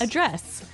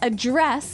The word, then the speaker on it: address: pronounce it differently so the verb address has the the stress on the second syllable okay address yes and